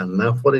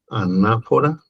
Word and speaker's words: anáfora: tienen usos distintos la anáfora y la catáfora. Anáfora y catáfora. Anáfora con acento en la A.